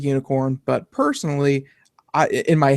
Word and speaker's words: Unikrn: like uh you know it's pronounced like unicorn but personally I in my head I've been saying Unicron Unicron I don't know